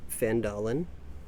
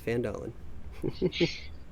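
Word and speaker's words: Phandalin: So our adventure is going to begin in a mining town called Fandalen. It's probably pronounced wrong, but that's how I'm pronouncing it. It's Fandalen.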